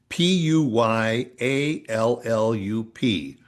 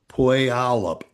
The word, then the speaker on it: Puyallup: p u y a l l u p Puyallup Wash Puyallup, yeah.